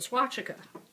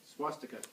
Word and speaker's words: swastika: Reich the symbol of the swatchika and pronouncing it wrong say Jim swastika thank you um hat